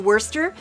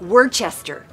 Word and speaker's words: Worcester: We're on the flight to Worcester, Massachusetts. Grandma, it's Boston. Shh. It's spelled like Worcester.